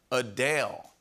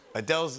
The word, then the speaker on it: Adele: Adele just revealed that her name is actually pronounced Adele. Adele's name is pronounced Adele.